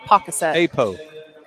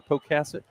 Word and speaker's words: Pocasset: Is that how you pronounce it? Oh, I said pocket. Apo caset. Say it again. Cassid. Amber Pocasset. Poasset. Is that right, Tyler? Amber Pocasset.